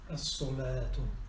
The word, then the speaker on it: الصلاة: الصلاة. الصلاة. نعم. صاد صنة. Lam is not pronounced.